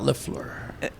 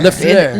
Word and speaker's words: Lafleur: here to talk about Lafleur. Well, I first I wanted I wanted to see if you learned how to say it. Yesur. Lafur. Lafleur. There you go.